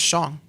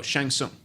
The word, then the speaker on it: Shang Tsung: that's it that's it that was shang no shang tsung you're thinking of shang chi you oh because you told me i thought it was just pronounced that way it's shang tsung we're introduced to the